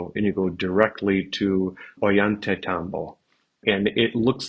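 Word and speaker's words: Ollantaytambo: you go directly to oant Tambo and it looks like oo but it's the Double L in Spanish I just how they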